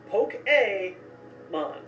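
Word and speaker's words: Pokémon: in borrowed words often, like resume, fiancé, and yes, Poke-A-Mon. My favorite way to remember this one? Just imagine Fonzie right in the middle of this word.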